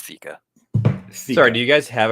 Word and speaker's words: Theca: I just I looked up the pronunciation. It's Theca.